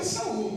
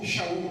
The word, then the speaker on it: Shaul: Então o nome do Paulo é Saul, Shaul, né? Uma pronúncia mais própria.